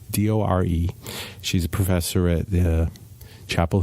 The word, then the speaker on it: Dore: I think that's how you say her name, Dore.